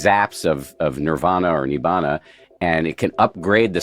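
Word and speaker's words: nibbāna: They call it nibbana which is the way it's pronounced in in the language of pi. And so you can have these zaps of of nirvana or nibbana and it can upgrade the software of your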